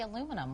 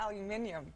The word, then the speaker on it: aluminium: And I read you can't say aluminum. What's up with that? Well, we say aluminium. Yeah. Yeah, we but also you say it wrong.